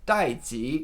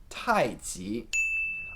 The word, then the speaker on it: tai chi: misrepresented for example tai chi as it's commonly spelled without an apostrophe is technically representing the sound dai ji and not the correct tai chi another early system that we still somewhat use